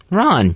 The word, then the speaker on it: Ron: and what's my name Ron what's that rhyme with Khan correct what is this [